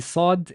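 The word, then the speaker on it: صاد: or the vellum so when we said that the sod is available rise that means it comes or it's produced at this area basically of your mouth unlike the scene was produced here no this one is produced there so and the other quality of it that's being valorized is also being alveolar which it resembles the scene as in it also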